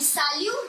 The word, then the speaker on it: salut: hindi namaste whatever and salute means also hi hello but where we see bonjour and where we say we what is the pronunciation of this word this is salu and this is so